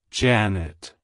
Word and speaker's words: Janet: century it's pronounced as Janet Janet Janet to pronounce it correctly emphasize the first syllable J ah and then the second syllable nit like hello Janet goodbye